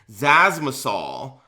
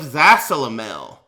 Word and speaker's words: Zasalamel: And I was laughing my fucking ass off because this guy was pronouncing the character's name Zazzmasol instead of Zasalamel.